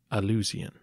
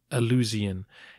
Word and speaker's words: Alusian: I should also say that Alusian is the anglicized pronunciation of the Romanized version of his Bulgarian name.